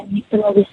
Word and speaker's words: Nyctalopia: The first one, Nyctalopia. I've hopefully pronounced that right. Yeah, Nyctalopia.